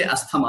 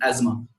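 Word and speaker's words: asthma: Don't say अस्थमा, अस्थमा नहीं होता है, द राइट प्रोनाउंसिएशन इज एज्मा।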